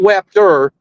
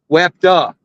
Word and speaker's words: Wapta: Oh, not Wapter, Wapta. WAPTA. Wapta.